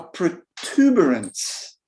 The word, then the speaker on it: protuberance: isn't it a protuberance it's got four syllables protuberance just wait for that